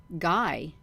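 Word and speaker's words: Gy: singular with man the word for woman is Guy g y pronounced hard as in gu y so the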